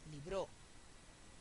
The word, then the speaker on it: libró: Y libró, aguda, termina en vocal, sí lleva tilde.